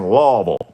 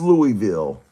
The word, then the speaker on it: Louisville: everybody says else says Louisville. You'll never hear me saying that. The only reason I'm saying that now is cuz I'm telling you that's not how it's pronounced. It's pronounced Lville, Cincinnati, Ohio, Dayton did a car show.